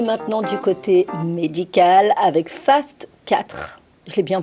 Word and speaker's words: FAST4: Nous allons aller maintenant du côté médical avec Fast 4. Je l'ai bien prononcé.